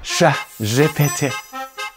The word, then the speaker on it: ChatGPT: Say it with me, ChatGPT. Now, quick disclaimer, I did hear some people say that it's more commonly getting pronounced the English way as chat rather than sha.